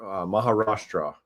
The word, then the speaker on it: Maharashtra: So hashgraph group and government of Maharashtra Maharashtra I said it right to build India's first